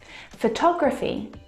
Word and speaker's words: photography: now if you look at the second example photography you can hear the pronunciation is different and that's because the second syllable is the stressed syllable in this word photography of cog photography